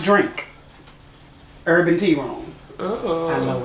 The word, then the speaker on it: Jourink: And Drink is spelled Jourink. Pronounced Drink.